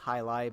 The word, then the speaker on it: Jai-Alai: Now, I know that this does not look like it's pronounced at all like Jai-Alai, but that is how you are supposed to pronounce it.